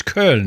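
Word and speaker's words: Köln: for me in cologne how do you say it properly it's kern isn't it is the german pronunciation yeah yeah i look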